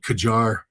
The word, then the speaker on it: Qajar: Tehran, we're blowing up some of the old Qajar. And again, I might be mispronouncing that.